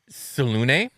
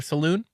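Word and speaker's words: Selûne: doesn't help but anyways I'm going with salune cuz I think that is the most common pronunciation but I want it to be known that up until this point I've always just called her Saloon I prefer just Saloon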